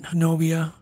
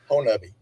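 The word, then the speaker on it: Honobia: Honubby. Say that again, David. Honubby. Honubby. Okay. Yeah. Doesn't sound right. It's one of those Oklahoma words. It's not not pronounced anything like the way it's spelled.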